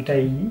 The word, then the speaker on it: tahini: forme de thym ou tahini, on le prononce à la française, H-I-N-I, pour ceux qui ne connaissent pas ce plat d'origine libanaise.